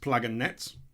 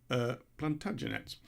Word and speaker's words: Plantagenets: Plantagenets is not pronounced Plaganets or Plagentets, as I described them, twice, embarrassingly so, Plantagenets.